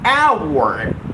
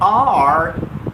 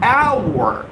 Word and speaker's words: hour: I'm going to be live for the next 1 hour. Well, it's not hour. Remember, the correct pronunciation is hour. Open your mouth and push that sound out of your mouth and say hour.